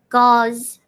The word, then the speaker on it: gauze: Jaws, but with a hard G. Gauze.